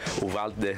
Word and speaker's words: Uvalde: guys have said, but the way I've said it growing up, I've just said Uvalde. The older Mexicans in my town, they say Uvalde, so they say it like that.